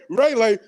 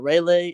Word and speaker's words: Rayleigh: So you say, how do you spell sleigh? How do you spell sleigh? God, we not doing like when Santa riding his sleigh, it's SLEIGH, right? So Rayleigh, exactly.